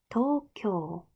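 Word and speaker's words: 東京: 일본식 발음이 도쿄. 둘 다 장음이에요. 도쿄.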